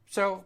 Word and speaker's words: Saul: Saul uh although uh in Hungarian Saul is kind of pronounced like so like that I'm I'm I'm still saying it wrong and I'm sorry I